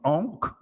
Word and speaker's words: Ankh: her hand two symbols one is called the Ankh which is spelled a-n-k-h the ark means life l-i-f-e life